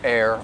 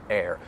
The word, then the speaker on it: err: this expression is that the first word you may hear some people pronounce it as er to er on the side of caution however i